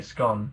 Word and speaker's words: scone: Oh my god, you said scone wrong. What did I say? Scone. Scone. It's definitely pronounced scone. Don't be a peasant. I'm joking. Is it scone or scone? It's both! It's called accents.